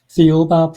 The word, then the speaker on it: Thiaoouba: about um a book and how do you pronounce the book again? Theoba Prophecy.